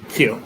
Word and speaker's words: queue: It's Q, right? Q.